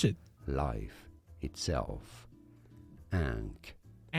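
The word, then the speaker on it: ankh: The word for life and by extension, hey, tell me what the how tell me how to pronounce it. life itself. Ank ank.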